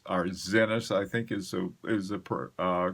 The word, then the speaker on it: Zenith: The Zenith El Primero, I think that particular one may actually be a limited edition.